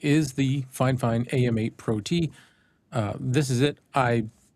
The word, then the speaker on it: PROT: Red cabin prote. Yeah, that's that's the way they spell it. P R O T. Pro T.